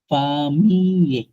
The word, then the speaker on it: famille: যখন সেমোয়া এ জো দিন avec ma famille, হ্যাঁ, famille, আচ্ছা, ডবল এলটা কিন্তু ফ্রেঞ্চ উচ্চারণ হয় না, ফামিয়ে।